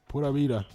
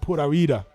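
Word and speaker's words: pura vida: It's like a cross between a B and a V.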